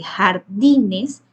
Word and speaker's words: jardines: En el caso de jardines, di sería la sílaba tónica.